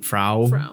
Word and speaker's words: Frau: FR I just said I'm going by like how they pronounce it in the film which is fra yeah I try to